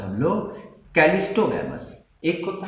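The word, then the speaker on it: cleistogamous: CH नहीं होता, गलत स्पेलिंग है, कैलिस्टो होता है CLEISTOGA, कैलिस्टोगैमस, ठीक है।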